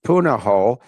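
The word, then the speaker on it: Punahou: that Obama went to in Hawaii and it's pronounced Punoho and it's spelled P U N A H. Uh, O. I think that's right. Uh yes. But yeah, I uh I went to Punoho.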